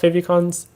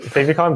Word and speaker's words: favicon: i i pronounce it favicon because again it was like it's from favorites and i pronounced favorites as fave so that's where i